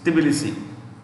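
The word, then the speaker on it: Tbilisi: okay georgia's president so capital is tibialis t is silent the policy is a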